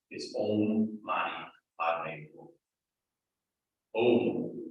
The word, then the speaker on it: Om: Om is a sacred sound, and in Tibetan it is pronounced more of an A-U-M, like an Om.